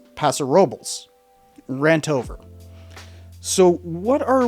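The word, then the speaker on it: Paso Robles: It's not Pasarobles, it's Pasarobles.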